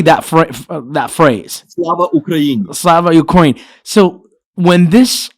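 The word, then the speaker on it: Слава Україні: Slava Ukraini.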